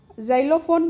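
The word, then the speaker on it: xylophone: जाइलोफोन बोलने में तो ये जाइलोफोन आता है, लेकिन बेटा इसकी स्पेलिंग जो है वो एक्स से शुरू होती है।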